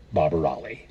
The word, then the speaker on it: Barbirolli: conducted by Sir John Barbirolli rhymes with jolly old boy